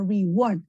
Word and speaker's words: reward: The company offered a reward. El estrés va en la última sílaba.